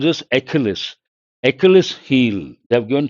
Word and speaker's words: Achilles: How do you pronounce this? Achilles.